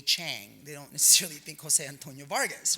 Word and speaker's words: Jose Antonio Vargas: you know I'm like why do they saying my name like that I've always said my name Jose Antonio Vargas like a gringo right why why because